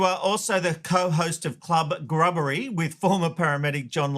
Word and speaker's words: Club Grubbery: Club Gub Grubbery. I knew I'd say it wrong. I knew it cuz I keep thinking club buggery. Yeah, that that now that's how we named it. Club Grubbery because people were saying